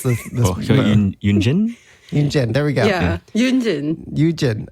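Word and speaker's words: Yunjin: Oh gosh, guys, help me pronounce this. Yoonjin? Yoonjin, there we go.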